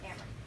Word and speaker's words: Amrin: Amrin? Like Cameron, no Z. Amrin.